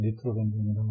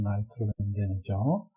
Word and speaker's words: 나이트로벤젠: 그 다음에 부분 혼합 액체 상평형을 부분 혼합 액체계는 예를 들어서 헥산과 나이트로벤젠, 우리 일상에서는 니트로벤젠이라고 하는데 영어식 발음으로는 나이트로벤젠이죠.